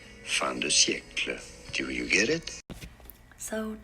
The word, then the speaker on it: fin de siècle: Culture at the, I'm going to butcher this, Fin de Siècle.